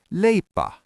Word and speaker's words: leipä: Bread is lea.